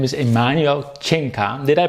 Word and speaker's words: Emanuel Cinca: His name is Emanuel Cinca. Did I pronounce that right?